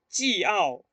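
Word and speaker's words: 饺: Porque cuando yo pronuncio, yo no voy a decir shui jiao o jiao. Voy a decir shui jiao, ¿no? Jiao. remarco en la A. Remarco en la A, no en la I-O.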